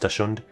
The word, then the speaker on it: Dachshund: But I read it, I'm pretty sure I read it with CHS and it was still pronounced Dachshund, which is fucking stupid.